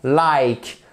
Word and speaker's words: like: Par exemple, like, time, fine. Ok? On dit pas fine, on dit pas time, on dit pas like. Donc like, fine, time.